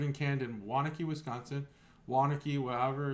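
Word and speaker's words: Waunakee: Brewing uh brew and canned in wanck Wisconsin wanaki whatever it's pronounced byed you actually nailed said Wan and then wanaki which one is it uh wanaki wanaki the reason I bought this beer is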